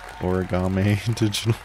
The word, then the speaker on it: Origame Digital: It's pronounced Origame Digital.